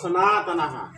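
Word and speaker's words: সনাতনাঃ: আকার থাকার কারণে সনাথ আকার হয়েছে এজন্য সনাতনা উচ্চারণটা এরকম হবে কুলসন্তি কুল ধর্মা সনাতনা ঠিক আছে এরপর এবার হচ্ছে ধর্মে ঠিক থাকবে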